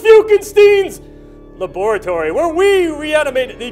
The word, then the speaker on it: Fiukenstein: welcome to Dr fuken Stein it's pronounced fuken Stein's laboratory where we reanimate the dead teams and